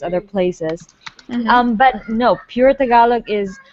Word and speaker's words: Tagalog: Tagalog. Okay, yeah, that's how you say it.